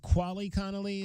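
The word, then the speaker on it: Quali Conley: other things with these speedsters now and it's pronounced quali Connelly the the other running back from Fresno yeah yeah quali Conelly yeah okay so you got two running backs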